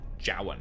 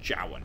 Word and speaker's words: Jowan: have you seen him johan okay that's how it's pronounced jowan i can't wait for